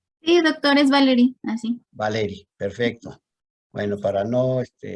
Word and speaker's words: Valerie: ¿Cómo lo pronuncias? Sí, doctor, es Valerie, así.